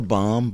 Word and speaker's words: balm: comfortable kind like a bomb but I say bomb you say bomb yeah if there you got to say the L it's not silent it's not a silent L you give the baby